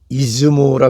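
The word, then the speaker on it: 出雲: 고사기에는 천지일모로 표시되어 있는 그 천일창이 왕이 되었다는 이야기가 따로 기록이 되어 있지는 않으나 학계에서는 그가 일본 서해안 쪽의 출운국, 일본 발음으로는 이즈모라 그러죠.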